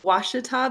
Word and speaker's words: Washita: I work at, actually, it's called Washita Battlefield. Washita is the Hollywood pronunciation of my wonderful park.